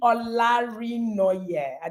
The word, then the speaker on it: Olarinoye: So we have Olarinoye. Did I pronounce that?